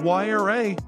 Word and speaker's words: Huayra: The Andean god of wind, Huayra, gave Pagani's Huayra, pronounced Y-R-A, its name.